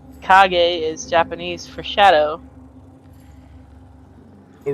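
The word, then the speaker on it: kage: my name on here is KAG R it's KAG is Japanese for shadow oh really cuz it says cage ear yeah k a g e cage is pronounced KAG in Japanese yeah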